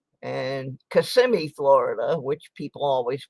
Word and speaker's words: Kissimmee: And Kissimmee, Florida, which people always pronounce Kissimmee.